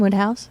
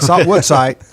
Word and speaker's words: Woodhouse: give everyone their web house in case web That's Woodhouse. Woodhouse. It's not Woodsite in Webhouse. Not Woodside.